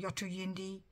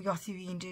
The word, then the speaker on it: Yothu Yindi: a a band called yatra yundi or yathu hindu depending on how you want to pronounce it yathu yindi was a was an